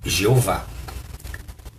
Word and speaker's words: Jeová: E esta se tornou a pronúncia aceitável do nome divino em português. Esta pronúncia retém do hebraico original os elementos essenciais do nome de Deus. Ou seja, esta pronúncia Jeová, em português, ela está correta. Como o seu nome, por exemplo, que não é pronunciado lá nos Estados Unidos ou na Europa da maneira como você mesmo pronuncia. Mas aqui no Brasil, a palavra Jeová pode ser pronunciada sem problema.